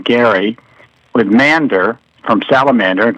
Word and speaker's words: Gerry: It came from a a governor of Massachusetts by the name of Governor Gary. Actually, it was a hard G, but we've changed it to a soft G.